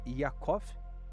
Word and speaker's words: Jacó: Então, exegeticamente, né, a palavra eh no original, aliás, a palavra Jacó, nome Jacó, é se pronuncia Yov, né, significa suplantador, aquele que agarra o calcanhar.